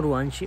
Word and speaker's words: रुवांशी: pronounce तो मैं सही कर रहा हूँ रुवांशी, और कमेंट यहाँ पर